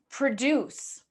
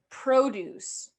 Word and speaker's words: produce: Okay, now I'm going to pronounce them as verbs and I'm going to pronounce them as nouns, and I want you guys to hear the difference. Okay, so produce, produce, produce, produce.